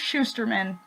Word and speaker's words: Shusterman: It's pronounced Shusterman.